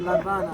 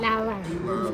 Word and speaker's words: La Habana: That is not The teacher has good La Habana. La Habana. La Habana. Because there is an article, because we don't pronounce H in Spanish, so La Habana.